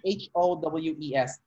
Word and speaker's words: Howes: Yeah, the last name is HOWES, not HOUSE. HOW, house, okay. Yeah. Not like house.